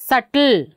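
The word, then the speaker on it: subtle: Here this one ಸಟಲ್, ಸಟಲ್.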